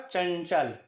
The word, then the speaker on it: चंचल: दूसरा शब्द है चंचल अगर आपने इसको अनुसार की तरह से उच्चारण करते हुए चंचल बोला कि इसका उच्चारण गलत है इसकी जगह लिखा यह हमेशा इसी तरह से जाएगा लेकिन इसका उच्चारण का चंचल अर्थात आपको चार के बाद जो यहां का उच्चारण हल्की से करना होगा और यहां यहां का उच्चारण करते हुए आपको जो ध्वनि निकलेंगी वहीं इस का सही उच्चारण होगा हो सकता है आप